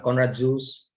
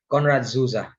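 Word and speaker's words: Konrad Zuse: was eckhart and mogley you know there's a conrad zeus uh by the way and the pronunciation is conrad zuza okay german and then there was alan turing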